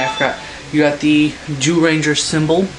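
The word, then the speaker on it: Zyuranger: of people think it's zoom ranger no it's ju ju ninja the z is silent the z is either silent or pronounced like a j so it's actually jew ranger jew ranger and also um as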